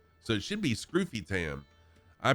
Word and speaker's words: Scrufytam: name should be pronounced Scroofy Tam, because there's only one F after the U, so that changes the U from a to a U. So it should be Scroofy Tam.